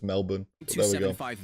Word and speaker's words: Melbourne: For Melbourne. I'm pretty sure they don't say it like that. I'm pretty sure it's Melbourne.